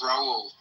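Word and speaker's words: Raúl: R A H Rahul you know Brazilian parina you know you just don't say the H. Okay it's Raul.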